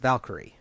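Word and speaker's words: Walküre: This is called Valkyrie, but it is the Spanish spelling, Walkure, but pronounced Valkyrie.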